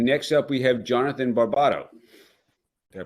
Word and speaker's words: Barbato: And next up, we have Jonathan Barbato. Did I pronounce that correctly? Yes. Yeah, Barbato. Yeah, very good. Yes. Barbato, potato. Jonathan here.